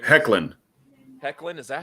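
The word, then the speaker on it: Hoechlin: tyler ho chin or whatever his name hecklin hecklin is that how you say it there's an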